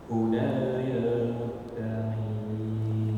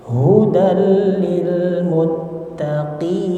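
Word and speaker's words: هُدًى لِلْمُتَّقِينَ: Zalikal kitabu la raiba fihi hudal lil muttaqin. Oke, hudal lil muttaqin. Qafnya diperjelas lagi.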